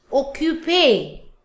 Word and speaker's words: occupé: The next one is occupé. Occupé. The sound is A.